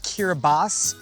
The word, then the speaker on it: Kiribati: C'est un pays qui s'écrit Kiribati, mais qui se prononce en fait Kiribas.